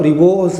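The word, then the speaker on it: ribose: हैं तो कोई डरने की जरूरत त नहीं राइबोज बोलो रिबोज़ बोलो आपकी इच्छा भैया आया ना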